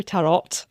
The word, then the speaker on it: tarot: Technically, it is tarot. Um because it is Italian where we kind of get that word.